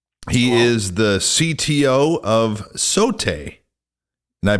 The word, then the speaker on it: Sote: mr scott yaakov he is the cto of sote and i pronounced that correctly yes you did okay great